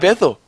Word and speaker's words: Bithell: Actually, do you actually have another microphone, Mike Bithell?